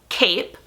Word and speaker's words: cape: to point out that without that e on the end what would this word be i'll cover up that e with my hand and i will show the class what would this word be cap we need that silent e there to make the a say its name after doing about two